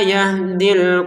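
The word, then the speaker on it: يَهْدِي: Yahdi ini awalnya panjang dua harakat. Jadi misalkan kita baca agak kuat nafas. Wallahu la yahdi. Maka berti berhentinya di ini dua harakat ya. Nah kalau mau dilanjutkan ternyata ada sukun maka panjangnya di menjadi hilang.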